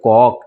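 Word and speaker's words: caulk: इसको बॉक्स की इसको कॉक इसको क्या पढ़ेंगे कॉक सी ए यू एल के इसको पढ़ेंगे इसको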